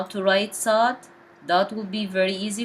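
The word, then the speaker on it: صاد: dots on the top sod pronounced as deep s because it's not technically like seen seen pronounced as s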